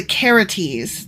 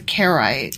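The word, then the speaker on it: Carites: I was saying carrot mercenaries but actually I'm pronouncing that wrong it's the caretes not the carrots ah okay okay yeah and so we were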